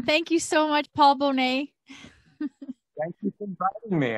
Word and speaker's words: Bonnett: First of all, his name's pronounced Paul Bonnett. Bonnett, yes.